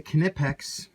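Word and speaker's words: Knipex: now this is a kinetics and it's uh some people don't pronounce the K but they do on their on their videos and stuff so I'll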